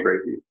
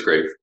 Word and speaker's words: Graefe: although it's funny because my high school nickname became Graefe. I had a French teacher for some reason who would like to pronounce it. Everybody thought that was so funny. I was like, that's not how it's said. So some people call me Graefe, but it's Graefe.